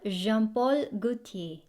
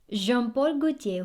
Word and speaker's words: Jean-Paul Gaultier: last one we have jean-paul gutier so silent l and r and then very small mouth with a very deep voice when i'm sexy if